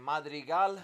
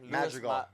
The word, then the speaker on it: Madrigal: Madrial. Madrial. Madrial. I can't even pronounce that One more time. Magical.